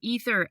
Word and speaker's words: Aether: ceo of aether diamonds did i say that right ether diamonds ether diamonds cool okay but it's spelled a e t h e r uh if you're looking